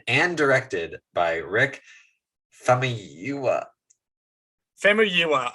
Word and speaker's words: Famuyiwa: Famuyiwa, I think, is how you pronounce it. Famuyiwa. Okay. Famuyiwa is how you pronounce the last name.